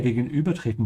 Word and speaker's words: gegenübertreten: Das wäre mir lieber als meine Familie gegenübertreten zu müssen. Be careful with the Ü sound. Stretch your tongue forward. Gegenübertreten.